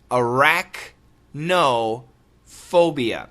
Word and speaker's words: arachnophobia: Arachnophobia. Now, Jed, the pronunciation, perfect pronunciation, arachnophobia.